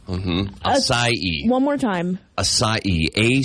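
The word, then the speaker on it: açaí: said that one mhm aai one more time asai a c a i but I always thought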